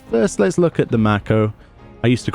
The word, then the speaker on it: Mako: I'll hear things the way they're actually pronounced, and I'll just do a double take instantly because it's always been Mako to me for whatever reason. But Mako it is.